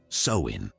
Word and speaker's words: Samhain: they celebrated a festival known as Sam Hine pronounced soin imagine samine like a massive New Year's Eve